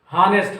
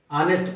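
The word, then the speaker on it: honest: देखिए बहुत बच्चे, मैं सुनता हूँ इंग्लिश मीडियम में भी पढ़ते हैं, आदत पड़ गई है, हानेस्ट हानेस्ट कहते हैं।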